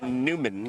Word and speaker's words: Newman: And we did get confirmation it is pronounced Newman, according to someone in the Okay, chat. like Thank you, the chat. Seinfeld character.